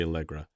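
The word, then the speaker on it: Allegra: to go featuring snow do you want to pronounce the last name uh snow alra sure algra we're stupid it's algra I don't know why I don't know I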